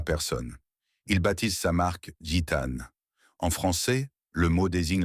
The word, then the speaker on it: Gitane: Il baptise sa marque Gitane. En français, le mot désigne la femme bohémienne. Mystérieuse, libre, impossible à retenir. Prononcé Jenen, il roule dans la bouche comme une promesse d'aventure.